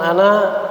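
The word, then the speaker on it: أنا: Makanannya dibaca tapi kalau kita napasnya habis makanannya terbaca panjang. An anziru annahu la ilaha illa ana. Panjang dia kalau kita waqafkan. Illa ana fattaqun. Misalkan kalau kita sambung atau kita wasolkan maka dia dibaca pendek lagi.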